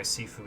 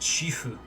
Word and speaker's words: Sifu: Incidentally, I kind of want to try Sifu at some point, or actually it's pronounced Shifu, but there's no H in the name because it's the Chinese spelling.